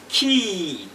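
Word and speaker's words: quay: So you have it, U-A-Y is in the word, for example, Q-U-A-Y, and it is pronounced as key, as much as you are saying K-E-Y. So Q-U-A-Y is the same as K-E-Y.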